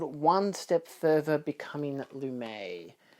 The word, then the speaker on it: Lumet: But yeah, Pawnbroker Blu-ray, and then it's called One Step Further Becoming Lumet. Which I assume is how you pronounce his surname, because it's French.